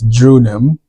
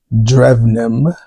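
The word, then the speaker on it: Drewnim: This is from, we asked them how to pronounce it because I've been pronouncing them as Drunim, but it's actually Drevnim. The W sounds like a V.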